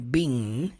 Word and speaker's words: being: Todo verbo que termina com ing, você não jamais, never pronuncia a letra G, tá? Você não fala being, tá? Being termina no som do N.